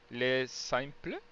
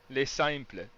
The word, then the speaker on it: Les Simples: want to check out your work, they it's LESSIMPLES.ca, right? That's it. Yeah. Yeah. And it's Les Simples. Can you Les say it? signs. Les Simples.